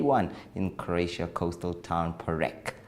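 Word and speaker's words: Poreč: If you missed it, here are some of the highlights from the day one in Croatia coastal town Porek, pronounced as Porridge.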